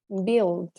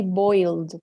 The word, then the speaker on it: build: first word uh-huh built build build okay please don't say boiled because boil it's when you boil oil water I say build okay